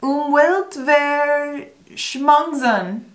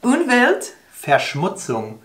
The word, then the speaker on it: Umweltverschmutzung: Five syllables. Umweltverschmutzen. Almost. Umweltverschmutzen. This is going to be... Umwelt. Umwelt. Verschmutzung.